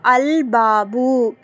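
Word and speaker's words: الباب: இப்ப பா எடுத்துக்கோங்க. இப்போ அல்பாபு அப்படின்னு எழுதி இருக்கிறேன். சோ ஏங்க நம்ம இங்க லாம உச்சரிக்கிறோம். ஏன்னா பா அப்படிங்கறது கமரியாவுடைய எழுத்து. அப்பனா லாம் கண்டிப்பா உச்சரிக்கப்படணும். அல்ஹம்து அப்படின்னு நம்ம சொன்னோம்ல ஹாங்கிறது என்ன எழுத்து?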